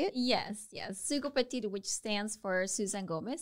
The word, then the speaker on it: Sugopetite: Sugopetite, which stands for Susan Gomez, Sugo, and then obviously the word petite is dedicated to short women.